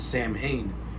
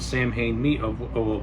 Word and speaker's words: Samhain: the blackboard it says Sam Hain, and Loomis gives like a little bit of a history of what Sam Hain it's pronounced Samhain, but he gives a